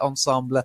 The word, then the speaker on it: ensemble: So ensemble is what you'll probably hear, but you will hear ensemble, especially from people who know French. When people know French, they do tend to like to pronounce it correctly.